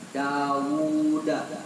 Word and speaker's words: Dawud: Bacanya panjang ya, Dawud.